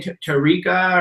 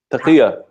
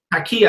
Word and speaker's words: Taqiyya: I love that people can't get over the, how do you say, Tariqa or? Taqiyya. Taqiyya.